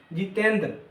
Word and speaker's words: जितेंद्र: डी आर ठीक है जितेंद्र लेकिन जितेंद्र उच्चारण के हिसाब से हम इसको जितेंद्र बोलते बोलते हैं। लास्ट में आकार का उच्चारण होता है। तो क्या इसमें लास्ट में क्या करेंगे? ए लिखेंगे।